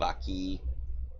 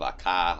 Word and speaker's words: Akka: The same strange symbols of these Windukes of Aki, which are actually the Windukes of Akka, according to canon. I've been pronouncing it wrong for the last 6 weeks, sorry.